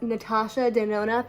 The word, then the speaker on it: Natasha Denona: Okay, so for my eyes, I am using this Natasha Denona palette. It's like a joke that I never know how to say. Natasha Denona.